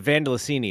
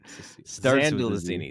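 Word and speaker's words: Zandalasini: you protected Carla the Vandalini is still out there. Vand Vandalini and say her name with a Z please. Vandelazini. Xandelazini. Zandelazini.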